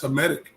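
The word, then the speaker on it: Hamitic: That's Hmetic.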